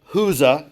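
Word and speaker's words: Chuza: cast out seven demons Joanna the wife of husa is how that's pronounced herod's business manager Suzanna and many others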